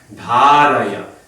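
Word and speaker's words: उपधारय: No, first syllable is dha, long. Next syllable is short, ra, dharaya. Then you get the right beat. Okay. So whole line, the last line. Matsthani yupadharaya. Matsthani upadharaya.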